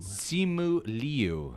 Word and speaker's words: Simu Liu: Simu Liu is how you say it.